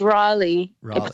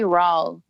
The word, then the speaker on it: Raleigh: I mean, I guess it's Raleigh. It can be pronounced that way, but it's really Rawl.